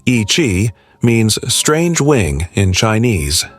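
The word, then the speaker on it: Yi qi: Number 15, Yei. In 2015, paleontologists announced a discovery so bizarre that it seemed like something from a fantasy novel. A small dinosaur with bat-like wings. Yi, pronounced Ichi, means strange wing in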